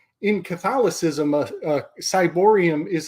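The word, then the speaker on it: ciborium: So I've been calling it a Kyborium. I think it's pronounced Cyborium, to be nerdy about it. Oh, like Cybele. Like Cybele.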